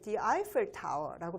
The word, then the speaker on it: Eiffel Tower: 여러분 에펠탑이라고 얘기하고 있는데 영어에서는요, 에펠탑을 The Eiffel Tower라고 발음합니다.